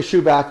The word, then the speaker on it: Schubach: uh it's helped me out it's pronounced chewbacc right it is shoeback of shine mba admissions consulting which you can